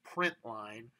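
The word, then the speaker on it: println: sentence in addition to this prynt Ln which we pronounce print line there's also a thing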